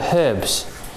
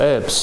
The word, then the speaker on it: herbs: books so they cover herbs or herbs as Americans say yes it's the only word that you use a silent H and we don't say